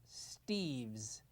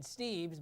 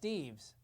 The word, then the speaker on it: Steves: Thanks, Bud, but my name is actually pronounced Steves. I think that's what I said, and I always say. No, you said Steves, but it's pronounced Steves.